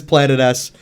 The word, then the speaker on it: Planetes: beginning of the last video was how to pronounce Planet s and right after I had posted the video